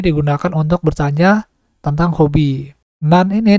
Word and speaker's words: 何: Nan ini dapat dibagi menjadi dua cara bacanya ya, ada yang nan maupun nani. Apabila langsung diikuti dengan deska, maka dibacanya nan.